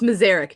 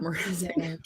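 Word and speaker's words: Mrázek: Mazarek, Beth. And Staylock, baby. If we learned anything from Gary Bettman, it's Mazarek, not Mrazek.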